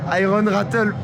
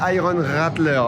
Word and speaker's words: Iron Rattler: Parce que Max et Cyril adorent quand je dis Iron Rattle. Mais en fait, c'est Iron Rattler. Voilà, bon, je fais une petite erreur de prononciation.